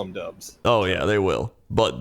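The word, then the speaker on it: Doubs: and i think it's i think it's dobbs actually from what i remember but i like dubs it would be i mean they'll call if he's very good they'll call him dubs oh yeah they will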